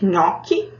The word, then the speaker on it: nhoque: gente tem lá nhoque, a palavra nhoque escrita do jeito que a gente pronuncia, nhoque.